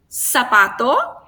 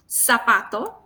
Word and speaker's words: zapato: So we have the same sound. Zapato, here. Zapato. como yo, como mi nombre. Cine. So even though we have 3 different letters, we have the same sound in Latin America.